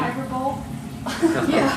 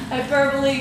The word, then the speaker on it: hyperbole: Switzerland or something you remember Brandy don't you hyper B God you know at least pronounced the word right I know hyperbole come on man you have to tell him